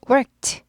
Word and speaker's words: worked: 그리고 worked together 함께 일했다. worked 크가 무성음이에요. 얘들 그래서 트 발음이 나게 돼요.